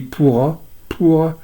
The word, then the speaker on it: pura: Alors ville, on traduit ville, c'est un mot sanskrit qui se dit pura, P-U-R-A, pura, et qu'on retrouve dans certains noms de villes indiennes maintenant, comme Jaipur ou Udaipur, sauf qu'ils ne prononcent plus le A final.